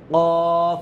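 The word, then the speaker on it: ق: হয়ে থাকে সেটা হচ্ছে কফ মানে কাফের সাথে মিলায়ে দেয় এটা এটা হবে কফ আর কাফ আলাদা কিন্তু কফ উচ্চারণটা কেমন হবে হচ্ছে কফ হ্যাঁ তারপরে এখানে আছে গোল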